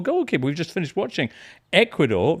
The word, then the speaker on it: Ecuador: We've just finished watching Ecuador, rhymes with barn door, as we mentioned yesterday, and failing to score against this incredible keeper, Tom.